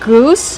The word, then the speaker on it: goose: Use the long oo like boot and food. Goose. Plus the S sound with no voice.